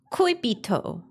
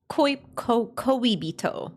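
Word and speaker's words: 恋人: But how do I pronounce it? Koibito. Koibito.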